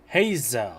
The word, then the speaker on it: Heizo: Heizo. He works as a special That's how you pronounce it.